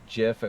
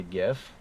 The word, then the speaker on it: GIF: Technically, it's supposed to be pronounced GIF, but I still say GIF.